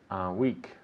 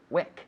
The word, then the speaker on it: wick: Week. Wick.